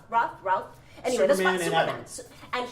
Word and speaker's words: Routh: Routh. Routh.